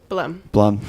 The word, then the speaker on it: Blumm: Blumm. Yeah, one syllable.